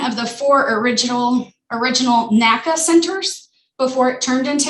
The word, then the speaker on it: NACA: into nasa and so naca is an initialism right and then and it's pronounced by the individual letters naca we don't really call it naca and then there's nasa which we is is um an acronym that we just run it all together and make a word